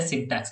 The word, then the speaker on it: syntax: syntax very good yeah you are third person who is pronouncing it properly it is a syntax not signed okay very good yeah